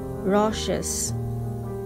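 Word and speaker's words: raucous: example drinking or drugs the next word is rashes spelling is r a u c o u s pronunciation rashes it's an adjective meaning is being harsh or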